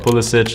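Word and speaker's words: Pulišić: As far as I know, CP pronounces his name Pulisic. So why does literally half of the English media say Pulisic? Pulisic is how I grew up, and being in the States, that's just how I'm used to it. And that's how I've always said it myself. But Pulisic is technically the Croatian pronunciation, so that's why it is correct. So I'm actually okay with both.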